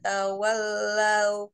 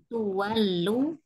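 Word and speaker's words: تُوَلُّوا: Fa aynama tuwallu. Fa'aina ma tuwallu fasamma wajhullah. Mukanya jangan dipanjangkan karena dia enggak ada panjang, hanya dengungnya aja. Fasamma wajhullah. Fa'aina ma tawallu fasamma wajhullah. Tuwallu bukan tahu.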